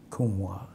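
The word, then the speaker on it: Kumhwa: And Kumwa, and I can spell that if you wish. Please. K-U-M-H-W-A. Kumwa.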